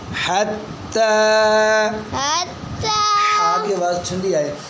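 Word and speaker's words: حتى: ज़बरता हत, हा ज़बरता हत, ता खड़ी ज़बरता, ताड़ी ज़बरता, हत्ता। हत्ता। आगे बच्चों ये जो या है ये साइलेंट है, इसको नहीं पढ़ना। हत्ता, हत्ता, आगे आवाज़ ठंडी आए।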